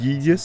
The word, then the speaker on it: Gyges: use Google and It's he the found that it reason was why I pronounced like think, in some Gyges, cases, like Greek, like Gyges, like finding gyro, out like gyros, where like you eat a gyro sandwich.